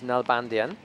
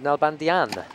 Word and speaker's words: Nalbandian: that and that's that the Armenian version his grandparents were Armenian is null bandian but in Argentina he's known as nelbandian that's right with an accent on the a for the the second to last letter to denote that that's where the stress goes always seems to be